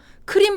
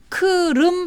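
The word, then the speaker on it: 크름: 그래서 키우라고 하기로 했구요 크림 반도 가 아니고요 크르릉 반도 입니다 로 제 2의 도시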